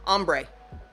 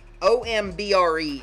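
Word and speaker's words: ombré: Ombre. Ombre. It's spelled, get it into the thing here, it's O-M-B-R-E is how it's spelled.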